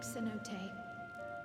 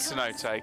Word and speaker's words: Cenote: Like us, my grandfather went to the deepest chamber of the Sky Deep Cenote, and It is Cenote, God. he You saw pronounced the it all way wrong.